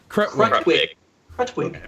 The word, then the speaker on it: Krutwig: Krutwig.